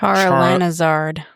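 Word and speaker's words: Charalanahzard: It's like a combination of Charizard and her real name, like Charlanazard is what it looks like. Charlanazard, yeah, that's right.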